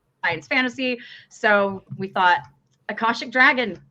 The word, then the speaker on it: Akashic: Am I pronouncing it right, Jenny? This is an Akashic dragon on the cover?